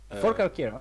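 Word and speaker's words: Forcalquier: Oh yeah, Shavir, how is this province pronounced? Which one? In Uh, Provence. Fort Calquier, I think. For Calcaire.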